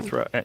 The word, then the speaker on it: Antikythera: Antikythera.